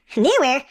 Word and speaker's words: Neewer: we're looking at the I guess it's pronounced newer it looks like newer newware sounds like something Larry